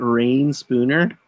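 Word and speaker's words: Reyn Spooner: just like backs up I love rain Spooner I think that's how you pronounce it did you press that rain Spooner yes that's correct okay any of the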